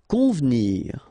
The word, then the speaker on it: convenir: Convenir. Okay, so the E here is not really pronounced, so first you've got this nasal, on, convenir, convenir. Vêtir, okay, accent circonflexe on